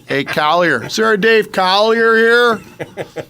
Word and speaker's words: Coulier: It gets mispronounced more than it gets misspelled. Yeah. Coulier. Hey, Coulier.